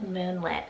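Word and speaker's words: Moonlet: to it then we have moonlit spelt m-o-o-n-l-e-t moonlit and this one's a word name meaning the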